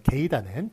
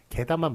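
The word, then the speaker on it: 개다: 게다가 맞는 거예요. 게이다는 비표준어입니다. 이거는 본말, 준말이 아니라 게이다는 원래 틀린 표현이에요. 게다만 맞다는 것.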